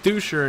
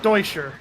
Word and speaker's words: Deutscher: Happy you said the last name, because I knew it wasn't Duscher anymore. It's Duche. Thank you. Deutscher. Deutscher. It's German, I guess.